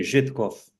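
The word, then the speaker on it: Żytkow: This is the Thorn Zitkow. Is that how it's pronounced? Thorn I'd say, being Polish, I'd say Żytkov.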